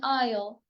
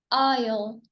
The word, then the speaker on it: isle: The S is also silent in isle. Isle i isle.